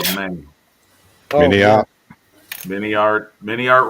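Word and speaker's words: MiniArt: Mini art rhymes with multi-part.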